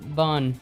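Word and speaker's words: bún: This is and this should be um sink bar having some bun pronounced bon bon bon bon Vietnamese n soup.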